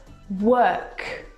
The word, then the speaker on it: work: vowel sound is actually er as in her work this is your eyes playing tricks on you